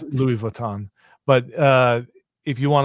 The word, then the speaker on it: Louis Vuitton: to buy a a Prada bag or a Lewis Vuitton bag, that's how you pronounce it, right? Yeah, I think so. Um, not sure. It's Louis Vuitton, but uh if you want to buy that